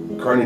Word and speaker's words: Kearney: If you've wondered how to pronounce my name, probably not, but some people think it's Kearney. And there's riffs in my own family on how to pronounce it, but Kearney, Nebraska.